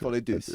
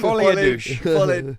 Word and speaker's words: Folie Douce: Folie Douce, is that how you pronounce it? Deuce? Folie Douce. I don't think it's a douche. Folie douche.